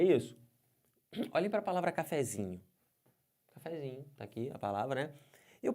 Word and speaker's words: cafezinho: sílaba tônica da palavra cafezinho cafezinho pode forçar a vontade cafezinho cafezinho força bastante e você vai ver que fica legal aqui então o z é a sílaba tônica dessa palavra Mas tudo bem E